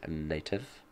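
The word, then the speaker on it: Knative: or it could be like knife you know where the K is silent so it would just be a native although very confusing so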